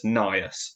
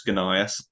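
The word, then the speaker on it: Gnaeus: It doesn't have an E here, it just goes GN, and at certain points some people argue it's pronounced as Nias and not as Gunias. But in fact there is actually evidence that in later Latin you did pronounce the G and it was Gunias.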